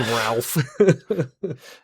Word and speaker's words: Ralph: or I think it's Ray Fines is how it's pronounced, but it's spelled Ralph.